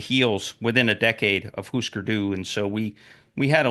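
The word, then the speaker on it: Hüsker Dü: Hûsker Dû, pronounced that way because there's umlauts over the U's.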